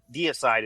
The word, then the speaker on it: Deicide: say that name either I've always said it wrong okay like homicide you have a deicide is like Det huh mind blown